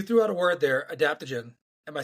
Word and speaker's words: adaptogen: So you threw out a word there, adaptogen.